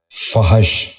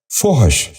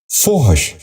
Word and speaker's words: فحش: فجور۔ نواں لفظ ہے فحش۔ یہ غلط تلفظ ہے، درست تلفظ ہے فحش۔ دوبارہ سنیے، فحش۔ بچوں آپ بھی غور